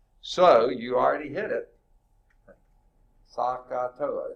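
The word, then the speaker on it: SOHCAHTOA: Sakatoa, is that how you say it? Yes, sir. Yeah.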